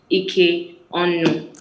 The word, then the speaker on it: Ike-Onu: The correct pronunciation is. That you got right. Ike-Onu. Okay, not So Onu, it's Onu.